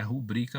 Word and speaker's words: rubrica: 4.4, apresentar nome, assinatura, rubrica, lembrando que a pronúncia é rubrica mesmo, ou outras formas de identificação no espaço destinado ao texto.